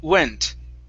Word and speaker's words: went: So start off with an oo sound here. Ooh, went.